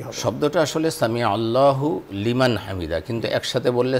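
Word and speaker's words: سمع الله لمن حمده: এ ধরনের কিছু আলোচনা আসলে প্রকৃত মানে সঠিক উচ্চারণটা কি হবে আসলে সামি আল্লাহু লিমান হামিদা কিন্তু একসাথে বললে সামি আল্লাহু লিমান হামিদা শব্দটা এরকম হবে একসাথে বললে ওরকমই হবে কোন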